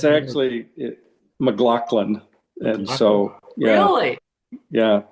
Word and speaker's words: McLaughlin: Well, it's actually McLaughlin.